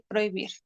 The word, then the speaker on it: prohibir: Tenemos que la H colocada entre dos vocales diptongables no impide la formación de un diptongo. Tal es el caso de estas palabras. Como ejemplo, rehusar y prohibir.